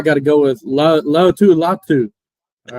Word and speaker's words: Latu: you know I gotta go with LA Lau latu all right I say it right yeah you